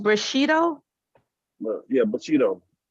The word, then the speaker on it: Bushido: yourself of death to accept it and it's pronounced Bushido well yeah but you know but Cheeto Samurai